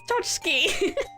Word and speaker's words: tchotchke: I don't see tchotchke written down very much. I'm surprised I recognized it. It's actually, I think, the last syllable of the chki. I'm like, wait, isn't that chki? Oh, it's tchotchke.